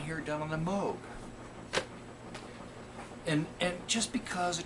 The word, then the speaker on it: Moog: that apologized for moog i always mispronounce that do they even talk about moog rhymes with rogue moog it's it's it apologizes